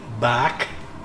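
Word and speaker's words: barque: named after his vessel which was a sailing bark b-a-r-q-u-e i think it's spelt and the relevance to him is that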